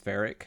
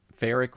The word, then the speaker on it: Feric: because my character is Ferric, which the story of that is I was playing EverQuest Online Adventures back on the PS2, and I had a dwarf cleric. Ferric rhymes with cleric, and you know he's